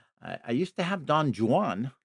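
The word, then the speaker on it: Don Juan: I I used to have Don Jan. That's how it's pronounced. Did you know that?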